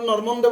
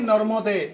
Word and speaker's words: নর্মদে: তো তোমরা নর্মন্দে বলো কেন? নর্মন্দে কি কারণে বলো? ইচ্ছা হয়েছে বলার, ইচ্ছা হয় না একটা বাড়িয়ে বলার। তাহলে এখানে যুক্ত বর্ণটা কি? ম যোগ ম। তাহলে যুক্ত বর্ণকে সম্পূর্ণ উচ্চারণ করতে হয় না? তাহলে নর্মন্দে যেটাকে বলো এটাকে বাংলায় বললে কি? নর্মদে। কি তো এটাকে সংস্কৃত নিয়ম অনুযায়ী সম্পূর্ণ উচ্চারণ করলে এটাকে কি বলতে হবে? নর্মদে।